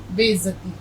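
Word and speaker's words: बेइज़्ज़ती: कैसे जाएगा ये देखिए और जे का उच्चारण आपका सही होना चाहिए बेइज्जती तो राजकुमार को बड़ा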